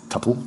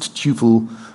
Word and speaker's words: tuple: I do not pronounce it tuple to rhyme with supple. I pronounce it tuple to rhyme with tuple, like quadruple. I'm very particular about the pronunciation of tuple.